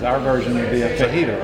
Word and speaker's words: fajita: Just say the word fajita. The J is silent.